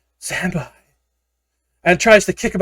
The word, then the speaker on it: Zanbai: Zanbai. I thought I might have been saying it wrong. No, you're saying it right. It's just that it was bonsai backwards. Ah, yeah. Like a reverse bonsai cheer.